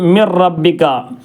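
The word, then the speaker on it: من ربك: റബ്ബിക്ക എന്നുള്ളത് എന്ത് ചെയ്യണം മിൻ റബ്ബിക്ക എന്നുള്ളത് മിൻ റബ്ബിക്ക നൂന് ആ റയിലേക്ക് കൂട്ടി യോജിപ്പിച്ച് മിൻ റബ്ബിക്ക മിൻ ലദുൻക എന്നുള്ളത് മിൻ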